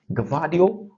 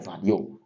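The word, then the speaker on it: Gvardiol: So Phil Foden scored, and then Josko Gvardio or Vadio, whichever way you pronounce it, it is acceptable.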